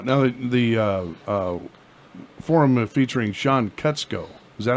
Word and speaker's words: Kutzko: Now the forum featuring Sean Kutzko.